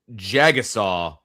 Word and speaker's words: Jagusah: Well, and he pronounced it Jagasaw. I've heard him say Jagasaw in an interview before.